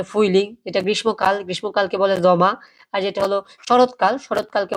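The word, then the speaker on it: Sommer: কি বলে জমা জমা জমা হ্যা আবার এটা সামার বলবেন না কেউ এটাকে কি বলে জমা ওকে আর যেটা হল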